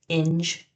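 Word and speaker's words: Ynge: He's also in the band called In 2 and it rhymes with the word cringe. On 30 you have BK which is Bill and he plays in the band called Inge 2.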